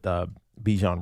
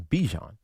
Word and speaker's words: Bijan: Because everybody says Bijan, and he says it's Bijan. And I'm like, all right, but why does everybody call you Bijan?